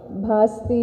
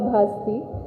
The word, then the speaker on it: ಭಾಸ್ತಿ: ಬಗ್ಗೆ ಹಲವು ಚರ್ಚೆಗಳನ್ನ ಕೇಳಿದ್ದೇನೆ ನನ್ನ ಸರ್ನೇಮ್ ಅನ್ನು ಬಾಸ್ತಿ ಬಸ್ತಿ ಬಸದಿ ಬಸಂತಿ ಅಂತ ಏನೇನೋ ಬೇರೆ ಬೇರೆ ಸ್ಪೆಲ್ಲಿಂಗ್ ಗಳಲ್ಲಿ ಯದ್ವಾ ಅಥವಾ ಉಚ್ಚಾರಣೆಗಳಲ್ಲಿ ಹರಡಿವೆ ನಾನು ದೀಪಾ ಭಾಸ್ಪತಿ ಮೂಲ ಊರು ಸಾಮಾಜಿಕ ಸಾಂಸ್ಕೃತಿಕ